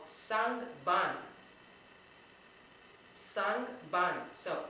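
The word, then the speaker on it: sangban: So let's see how many syllables we have with sang ban. Sang ban. That was 2.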